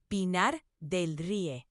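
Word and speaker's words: Pinar del Río: That's Pinar del Rio.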